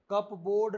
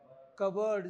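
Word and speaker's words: cupboard: cover क्या होती है पी इसमें साइलेंट है आर इसमें साइलेंट है कप बोर्ड नहीं बोलेंगे क्या बोला जाता है कबर्ड जिसमें कपड़े रखते हैं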